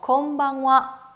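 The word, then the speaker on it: こんばんは: 건 위치와 건 위치와 내 끝에 있는 히라가나 하 발음을 제가 방금 와 라고 읽었죠 인삿말을 발음 하실때 할애 와 라고 발음 해주셔야 된다 그래서 저녁 인사도 건방 와 건방 와 라고 발음 해요 나디 행사와 저녁 인사는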